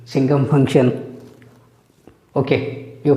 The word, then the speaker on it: signum: Signum, many of you last year pronounced signum function. Okay, you pronounce however you feel comfortable. My teacher taught me to pronounce this as signum. S-I-G-N is sign, signum.